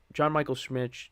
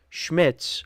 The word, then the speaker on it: Schmitz: Because, John Michael Schmitz, I did not say his name right. John Michael Schmitz, okay, there we go.